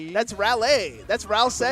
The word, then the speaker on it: Raleigh: Patchwork taking place in I don't know how to pronounce that. Relay. Rally. That's Lei, my friend. That's Raleigh.